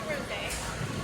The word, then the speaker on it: rosé: It's a rosé.